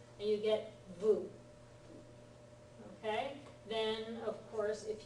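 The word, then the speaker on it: ヴ: invention CL Vu yes it's Vu This Is How They render a v sound for the Japanese people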